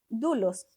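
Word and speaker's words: δοῦλος: Dulos. Sí, dulos en el griego, ¿no? Yo digo dulos. Así se escribe, pero es es dulos la palabra dulos.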